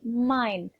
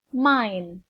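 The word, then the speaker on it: mine: bukan pula air tetapi main bacanya bukan mini ya tapi main yang artinya adalah milikku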